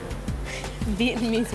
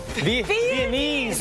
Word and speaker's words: Viennese: Vietnamese waltz. Viennese waltz. Not Vietnamese.